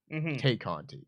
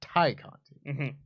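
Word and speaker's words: Tay Conti: made a point that her name is not taymello take Conti it's Thai Conti so do not then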